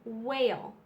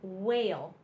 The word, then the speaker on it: whale: one is W in whale all you hear is the W in whale www in whale w says W in whale the H is silent so we have wheat